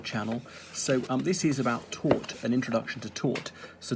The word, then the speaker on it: tort: When I first heard tort, I thought it was the past tense of teach, but it's pronounced almost the same.